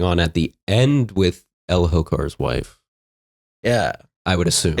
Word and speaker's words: Elhokar: Elhokar. But there's an H. Elhokar. The H is silent.